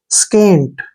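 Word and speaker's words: scant: एस सी ए एनटी इसको सेंट नहीं बढ़ना है स एस का उच्चारण श करेंगे और जहां भी सी के बाद ए आता है वहां सी का प्रोनाउंस क करते हैं ऐसे के के रूप में एन को न लिखेंगे और टी को ट स्केंट स्केंट क्या होता है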